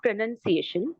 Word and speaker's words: pronunciation: it is so though see very interestingly when the word is a verb it is pronounced so that time we very uh clearly pronounce the U also pronounce pronounce your name clearly but when it becomes a noun pronunciation that time we we don't uh clearly you know clearly state or Clearly say the U